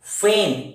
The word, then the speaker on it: feign: Simulate, फेन, इसमें जी का उच्चारण नहीं होता है, FEIGN, फेन। Sham, SHAM, sham.